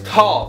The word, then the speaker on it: Tal: but my name is tall spelled t a l not Paul not Ron not Todd not call not Saul it's a name in Hebrew and so in America